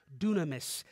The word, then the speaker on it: dunamis: he's talking about comes from the greek word dunamis it's spelled d-y-n-a-m-i-s spelled kind of like dynamic because